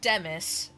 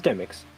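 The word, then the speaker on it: Demyx: And Demis, not Demix. No, it was Demix.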